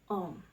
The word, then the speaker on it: Om: Aum ketika diucapkan secara terus-menerus, maka kedengarannya akan berbunyi Om.